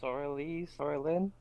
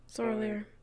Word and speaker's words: Soralier: And if I remember correctly, it's Soralyn? Soralier. Soralier. Gotcha. Yes. One of the few to actually say it right, but...